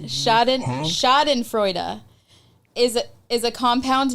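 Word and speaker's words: Schadenfreude: The German word is shoden frea. What? That's how it's pronounced. Shoden Shoden Freuda is a is a compound noun formed.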